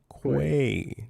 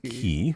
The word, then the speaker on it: quay: Uh, say with me now with the Q. With the Q. Quay. Mhm. Quay, not key. I don't know who says key. It's qu.